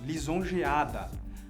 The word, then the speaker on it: lisonjeada: A última sílaba, bom, pega a última palavra do verso, lisonjeada. A sílaba tônica dessa palavra é o A, lisonjeada.